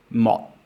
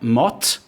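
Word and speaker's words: một: So it's not mot, it's mot. A problem with many foreigners learning Vietnamese is they will just see this final sound and pronounce it the way they normally would. So they would say mot.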